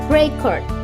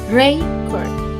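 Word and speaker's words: record: the main stress uh for example Ray cord Ray cord as a noun because the stress contains is the stress stands to the first syllable and secondary stress the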